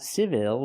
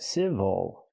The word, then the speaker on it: civil: like very good and this word is civil not civil but civil again the stress is on the first syllable so the second syllable is not stressed we cannot say ill